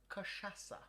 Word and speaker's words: cachaça: So, cachaça, I believe is how you say it.